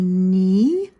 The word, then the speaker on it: knee: is it gonna be knee or any of those letters silent no is it gonna be knee again what's letter is silent the K is silent so you're gonna circle